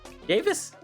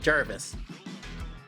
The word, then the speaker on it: Javis: Cuz it it doesn't have an R. So it's not Jarvis. Javis. That's not Jarvis.